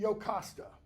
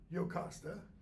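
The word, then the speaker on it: Jocasta: his wife is named yokasta the J is pronounced like a y okay she's pregnant with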